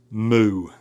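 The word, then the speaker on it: μῦ: Moo. Moo. Now your magiscule is looks like our uppercase M in modern times. Moo. Moo is uh going to have that M pronunciation as in money or make Mercedes.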